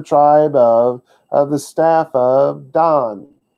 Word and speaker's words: Dan: so it's other tribe of the staff of Donn it's spelled ein in English but you pronounce it down not Dan don don means judge but it's the name